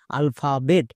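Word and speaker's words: alphabet: এইচ এ ফা আলফা বি ই টি বেট আলফাবেট তাহলে আমরা যেমন বাংলা বানানকে শুদ্ধভাবে লিখতে পারবো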